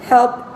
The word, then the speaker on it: helped: se escribe en el pasado y así se pronuncia en el pasado. Helped.